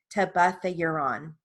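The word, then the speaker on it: tebuthiuron: me say that again it's a short eye i looked it up to buff the uran to buff the euron and it's spelled t e b u t h i u r o n tabatha uron and i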